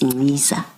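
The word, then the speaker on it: Nciza: I now know it's Ngiza. And I'm told I should spell it for the record.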